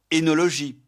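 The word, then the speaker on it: œnologie: Leur correspondant français s'écrit avec la double voyelle o mais prononcé etip enologie esophage fétus. Mais la prononciation e est courante en particulier dans fetus feutus par confusion avec le second cas.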